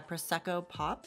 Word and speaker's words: Prosecco Pop: Becca Prosecco Pop, is that how you say it? Yeah, Prosecco Pop.